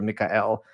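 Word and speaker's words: Mikael: So I spelled my name in English, M-I-K-A-E-L, right? Because that phonetically sounds closer to the Hebrew Mikhael than Michael would be.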